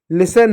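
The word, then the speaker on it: listen: अब देखो एस टी है। एस टी है तो टी साइलेंट हो गया।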